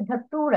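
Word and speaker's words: datura: ঠিক আছে, ধাতুরা এভাবে উচ্চারণ করবে, ধাতুরা ধুতুরা।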